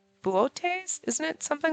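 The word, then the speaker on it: Boötes: It's Buotes, isn't it? Something like that. It's got a fancy pronunciation. It's not Boots. It's Buotes or Bootes or something like that.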